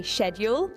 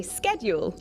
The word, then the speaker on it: schedule: Do you say schedule or schedule? Brits say schedule, Americans say schedule.